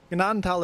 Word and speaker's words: Gnadental: They said the G was silent. Oh, definitely not.